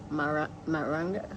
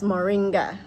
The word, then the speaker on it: moringa: But anyway, that's why I always say moringa instead of maranga. How you say it? I don't know. Anyway, I'm saying it wrong. It's moringa. I either say maranga or something like that, I see.